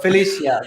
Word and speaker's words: Felicia: Felicia, it's good. Right, either way, right? So I got my name butchered all the time, like Thierry, Terry. I mean, I got it all. So Felicia, right, good.